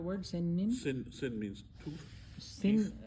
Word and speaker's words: سن: Sin is the right way to pronounce it.